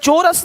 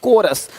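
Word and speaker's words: chorus: यहां पे क्या लि चोरस नहीं कोरस देख रहे हो शिफॉन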